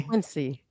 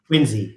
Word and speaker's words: Quincy: Quinzy. Quinzy. Wow. What do you say? They've been teaching me. Quincy. No, it's Quinsey. Quinzy.